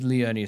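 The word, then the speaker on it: Liurnia: Oh, it is Leonia since they make a long e in Japanese.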